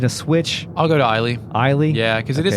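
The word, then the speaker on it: Eilie: According to our friend in the real net, Tokame says that Eiley matches the katakana the best. Eiley. Okay. Are we going to switch? I'll go to Eiley.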